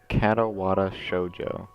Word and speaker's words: Katawa Shoujo: Alright, so I also learned that the game is pronounced Katawa Shoujo. I believe I'm saying that correctly.